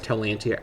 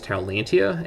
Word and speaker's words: Taulantia: So first of all, our name is Taulantia, and that is how I'm going to be pronouncing this. It's possible this could be pronounced alternatively, and I'm not sure if Tau is a very Latinized pronunciation, but again, considering that